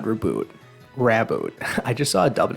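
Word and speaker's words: Raboot: how they pronounce that reboot sounds more natural to me but obviously it's a rabbit so it's rabbit not reboot alright moving on we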